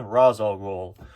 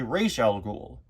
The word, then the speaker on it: Ra's al Ghul: Although, I've heard that apparently, that's an improper pronunciation that was used in the Batman Begins movie and the proper way to say his name is actually Raish al Ghul.